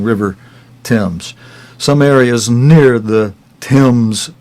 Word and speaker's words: Thames: Friends, I don't know why our brother Ephraim pronounces what it always sounds like to me, the River Thames. When it's spelled T-H-A-M-E-S, to me it sounds like that